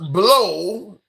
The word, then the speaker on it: Blough: Blow is spelled Blough.